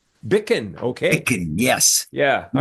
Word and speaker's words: Bichan: go anyway it's uh it's a Scottish name and uh it depends where you are how you pronounce it but uh the general kind of anglicized version uh my family used is bickin bickin okay Bick yes yeah